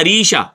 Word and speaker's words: عریشہ: عریشہ الف کے ساتھ۔ عریشہ کا جو اصل تلفظ ہے وہ آتا ہے عریشہ عین کے ساتھ۔ جو عریشہ ہے اس